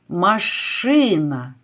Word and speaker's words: машина: Який голосний тягнеться? Машина. Звук А.